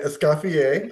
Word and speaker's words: Escoffier: Okay, Escoffier.